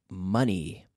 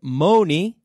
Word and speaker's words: money: money noise noise mone so you know money it rhymes with funny como gracias Oh funny